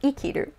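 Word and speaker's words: 生きる: of it and it is not pronounced say kiru it's pronounced ikiru so that would be the kung yomi of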